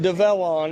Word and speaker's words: DEVELON: this machine yeah so this is it's actually pronounced develon if you want to get technical so I've